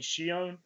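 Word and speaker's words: Xion: Did you ever get to the part where you had like I think they pronounced it like Shion, the I think.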